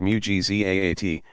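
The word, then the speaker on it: mu'jizat: They called the works God did as proof of his prophet's truthfulness evidentiary miracles, mujizat. Pronounced mujizaat, and those effected by friends of God marvels, karamat, pronounced karamaat.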